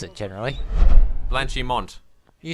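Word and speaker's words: Blanchimont: when there's an n in a word you pronounce it generally blanchimon you said blachimonde oh I do apologize blanch him on so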